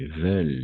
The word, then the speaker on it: veulent: O sea, ENT va a ser mudo. D'accord? N'oubliez pas ça. Ici, par exemple. Ici, veulent.